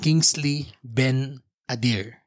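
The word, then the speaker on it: Kingsley Ben-Adir: ' Ba Kingsley Ben Adir.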